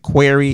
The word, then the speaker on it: Quarrie: The work, and of course, Quarrie. That's last name is QUARRIE. Sometimes people always wonder, is it Quarrie? Is that how you pronounce that?